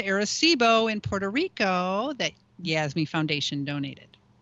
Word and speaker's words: Yasme: a repeater to arecibo in puerto rico that yasmee foundation donated right that was you guys that